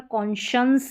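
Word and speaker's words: conscience: यहाँ पर कॉन्शंस है, शंस N आ गया तो इसलिए ये बिंदी लगी, कॉन्शंस, आधा न का साउंड देना है।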